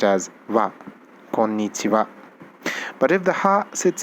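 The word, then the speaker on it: こんにちは: nichiwa this should be konnichiha but the thing is the the funny thing about the ha alphabet is when ha sits in the end it's generally not pronounced as ha it becomes so in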